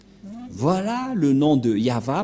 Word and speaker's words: Yahvah: le nom de de yava et la prononciation de y h V selon les hébreeux c'est yava et personne ne peut le contester car ce sont le